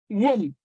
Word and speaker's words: womb: B is silent.